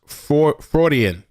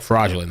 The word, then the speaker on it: Freudian: for the Super Chat she says uh it's pronounced Freudian Freudian Freudian slip okay I like fraudulent slip I like that better but yeah the way it's pronounced Freudian slip fraudulent so he over here